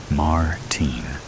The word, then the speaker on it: Martin: He pronounces Martin in the American way, rather than the way I prefer it. Martine.